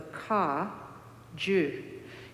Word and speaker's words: Kagyu: And so this idea of the ka, ju, G-Y-U as we spell it in English letters, means lineage.